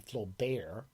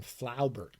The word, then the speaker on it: Flaubert: The masturbators call him Flaubert. We call him Flaubert, Gustave Flaubert.